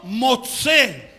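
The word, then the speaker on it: מוֹצֵא: Y fíjese bien que la primera pronunciación tiene kametz, matzá. Por eso se lee con A. Pero la siguiente tiene holem. Por eso se lee con O, motzé.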